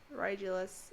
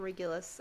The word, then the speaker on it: Rigelus: Rigelus. Okay, I always want to call him Regulus. I feel like because there's someone in Harry Potter with like a similar name.